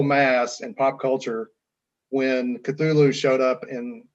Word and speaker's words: Cthulhu: name Cthulhu, of course, nobody pronounced it correctly, but it is Cthulhu, not Cthulhu, but anyway, let that pass.